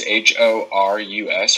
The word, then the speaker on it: Horus: H-O-R-U-S, Horace?